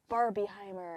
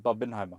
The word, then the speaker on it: Barbenheimer: You didn't say that right. Say that again. Barbieheimer. Barbenheimer. Say it properly. Barbin. It's Barbenheimer.